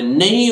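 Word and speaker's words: knee: बाद एन आ जाए, यदि किसी शब्द में के बाद एन आ जाए तो के साइलेंट रहता है, ध्यान रखना के बाद एन, तो एन के डर के मारे के का उच्चारण नहीं होता है। जैसे देखिए किनी नहीं है, के बाद एन है तो इस एन के कारण के उच्चारित नहीं होगा, बोलेगा ही नहीं, तो एन डबल ई नी, नी घुटने को बोलते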